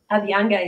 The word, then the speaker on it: Abhyanga: Abhyanga, yeah.